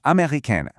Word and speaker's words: américaine: So an American man would say je suis américain, but an American woman would say je suis américaine, adding that little E sound at the end.